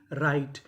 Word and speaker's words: write: आर से पहले डब्ल्यू लिखा हो तो हम लोग डब्ल्यू का उच्चारण नहीं करते।